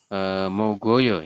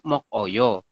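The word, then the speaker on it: 먹어요: Harusnya kan mokoyo. Tapi kita bacanya adalah mogoyo. Seperti itu, bukan mokoyo.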